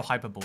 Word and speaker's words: hyperbole: someone from um uh also hyperbole exactly that's that's how it's pronounced it is uh hyperbole uh no my i